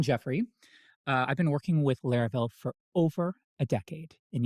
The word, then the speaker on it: Laravel: But back then, nobody knew what Laravel was. In fact, when people heard the word, they called it Laravel, not Laravel. And actually, some people still do today. But trust me, the correct pronunciation is Laravel.